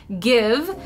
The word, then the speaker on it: GXVE: Gwen Stefani's makeup brand give that is how it's pronounced even though it doesn't look like that it released earlier this